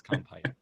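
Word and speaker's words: Compyte: So there are competitor tracking software products, Crayon, Compite, I don't know how you pronounce that. We've heard it every way, but the understanding is that it's Compite.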